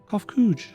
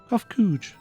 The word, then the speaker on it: Kofkuj: As for nomenclature to address my individual person, I believe it would be pronounced Kofkuj. Yes, Kofkuj, of the air.